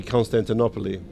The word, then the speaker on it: Constantinople: is right sorry I sorry Constantinople it's actually constantinopole Constantinople but um you know unfortunately I was raised in a in an environment where the English pronunciation was forced upon me constantinopole okay so constantinopole Constantinople it reads the L as to see the light